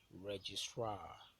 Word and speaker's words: registrar: When you have example of ultimate uh, stress on the primary stress on the ultimate syllable is the word registrar.